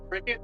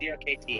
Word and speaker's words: CRKT: Before I say it wrong, is it Cricket or CRKT? CRKT. Okay. Yep. Probably common misconception, I'm guessing.